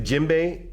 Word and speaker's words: djembe: called the jimbe now the jimbe is spelled DJ e m b e this drum is a